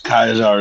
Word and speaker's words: Kaiser: He said yes. Kaizar is the right way to say it.